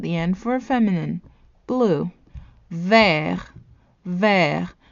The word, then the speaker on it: vert: Vert. Vert. The T is silent in the masculine form.